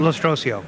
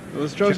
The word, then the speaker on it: Lostrosio: Lostrosio. Lostrosio. Is it Italian? Yes, it is.